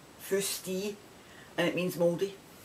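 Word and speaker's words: foostee: when you pronounce that you pronounce it f-o-o-s-t-e-e firsty and it means moldy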